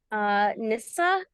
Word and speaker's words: Nyssa: Nissa and pronouns she, her.